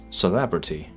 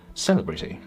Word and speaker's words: celebrity: For example, we know celebrate, but this word is pronounced as celebrity rather than celebrity.